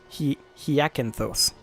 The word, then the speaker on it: Hyacinthos: Hyacinthos. Yeah, I had one too many syllables there.